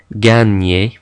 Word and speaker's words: gagner: GN in French is similar to the Spanish N with the tilde. It makes a ny sound. Okay, we don't pronounce the G and the N separately. It's a ny, as in gagner.